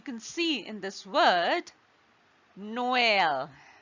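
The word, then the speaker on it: Noël: what does it do it emphasizes that the wobble is to be pronounced distinctly from the one just before it right so for example as you can see in this word Noel Noel now there are two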